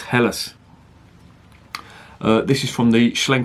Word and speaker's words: Helles: lager beer see that that's not pronounced Hills its helis this is from the